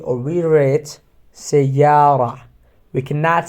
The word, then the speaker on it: سيارة: But if they are attached from another word, we have to pronounce it سيارة or مدينة without ta sound, okay?